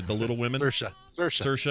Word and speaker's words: Saoirse: for marriage story so Suri Ronan for the women are sorry the little women are shut Saoirse I never get it right rhymes with inertia Charlize Theron for bombshell